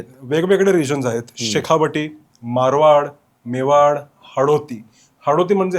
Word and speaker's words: मेवाड: सांगितल्या तर पहिला प्रश्न मेवा की मेवाड तर जेव्हा लिहितोय इंग्लिश मध्ये मेवा आर आहे बट the pronunciation originally मेवाड आहे म्हणजे आपल्यासाठी मेवाड मेवाड मेवाड empire trail first of